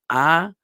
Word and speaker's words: Adonai: The name of God that we say in place of the tetragrammaton, this 4-letter name, is we say Adonai, okay, which is from the word Adon, meaning Lord or Master.